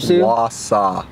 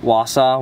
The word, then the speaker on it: Wausau: gonna drive over to how do you say it Warsaw what Wausau were see yeah so we're gonna